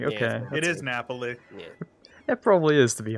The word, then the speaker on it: Napoli: or something and I'm like ok it is Napoli it probably is to be honest just blame